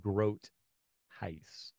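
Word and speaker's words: Groothuis: name his name is Groce it's German Gro okay okay I always pronounce no it's actually Dutch I shouldn't say it's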